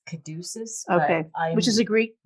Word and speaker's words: caduceus: take a stab at it i think it's caduceus okay which is a greek word yeah and